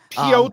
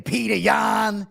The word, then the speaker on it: Yan: in his career absolutely you were close on the pronunciation it's pan nothing like coach Ray Longo saying petan you know yeah right